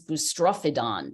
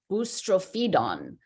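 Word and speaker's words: boustrophedon: knows ancient Greek and I thought the word was bustrophedon and then I looked it up and everybody online says ustrophedon so I've been like booster feed on booster feeds of trying to say it right um but maybe maybe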